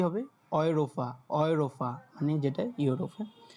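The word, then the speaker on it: Europa: তারপর দেখেন এ উ, এ উ মানে হচ্ছে কি অয়, অয়, এই দুইটা মিলে উচ্চারণ দেয় অয়, তাহলে কি হবে অয়রোফা, অয়রোফা মানে যেটা ইউরোপ, হ্যাঁ।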